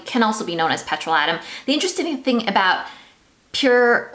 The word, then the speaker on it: petrolatum: check it out so i said petrolatin in it but it's actually apparently pronounced petrol atom fine let's call it petrol adam that is what people